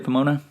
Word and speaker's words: Pomona: a team there at their Church in uh Pomona California am I pronouncing that correctly Pomona that's right yeah purpose Church purpose Church in